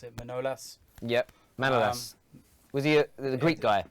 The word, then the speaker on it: Manolas: how do you pronounce it? Manolas? Yep, Manolas.